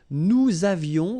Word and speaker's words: nous avions: Nous avions, let's make this beautiful liaison here.